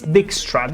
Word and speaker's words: Dijkstra: I I still have to understand how to call him but it's Dijkstra. You just think about dick and you'll have your answer on how to pronounce the name correctly.